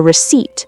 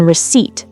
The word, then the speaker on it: receipt: After you pay, they'll give you a receipt, which is the paper listing everything you bought. The P in receipt is silent.